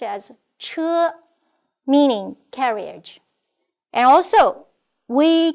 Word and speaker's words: 车: This is pronounced as 车, meaning carriage.